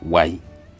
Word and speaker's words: wani: by fluent speakers the N is elided or removed when pronouncing the word as with many other words in mendee language so instead of wani you will hear people say why why do we have